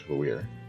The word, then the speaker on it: Valere: They have stuff for streamers, but they have the name pronunciations on there, so it's Valere. Officially.